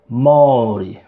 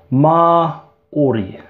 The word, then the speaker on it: Māori: Oh, oh, mau, mau, mau, mau, maur, maur, maur, Māori, Māori, Māori. And that's it, the I at the end, pronounced with an E, so ri at the end. Māori, Māori, Māori, Māori, Māori, Māori.